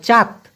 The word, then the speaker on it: cat: Malaysian ভাষায় বলা হয় চাত। দেখেন ইংলিশের ক্যাটের মতো, CAT, ক্যাট আমরা সারা জীবন পড়ে আসছি, মালয়েশিয়াতে এসে সেটা হয়ে গেছে চাত, কারণ সিকে মালয়েশিয়ান ভাষায় চয়ের মতো উচ্চারণ করে।